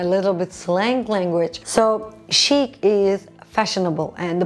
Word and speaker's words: chic: So chic is fashionable and the pronunciation is chic, okay?